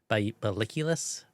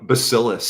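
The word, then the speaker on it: Bacillus: compare contrast it with Baliculus? Beulus. Hopefully, I'm saying that right. B A C I L U S. Oh, Basillus. Basilus. Yeah, I didn't think I was pronouncing it right.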